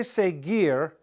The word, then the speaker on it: seguir: Now the verb, when we say seguir, g, I'm making a hard G sound. But the only way you can make this hard G sound is you have to insert the U between the G and the I to make it a hard sound.